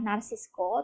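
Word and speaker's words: Narciso: diwakili oleh native sesak Narsisco Ramos ini sebenarnya Bacanya adalah Narsisco tetapi pun Ovi baca nabito agar nanti ketika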